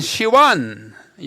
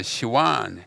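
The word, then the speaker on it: סיון: 그다음에 2월에는 아무것도 없고 제 3월인 시완이 현대 발음으로는 시완 합니다만은 여기 고대 히브리어 시원 s i v 시이라고 하는데 옛날에 시완늘 있어요.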